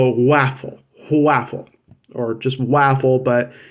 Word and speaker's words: Whaffle: this idea the idea it's called the waffle waffle or just waffle